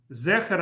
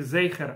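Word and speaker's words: זֵכֶר: Это почему? Потому что ашкеназские евреи произносят цери, гласные две точки, да, произносят как эй. Правда, многие румынские и польские евреи, они вообще произносят ее как ай. Но я говорю сейчас про литовских евреев, они ее произносят как эй. А сиголь, то есть три точки, они произносят как э. Поэтому Зехер Амалек, это как будто написано с тремя точками.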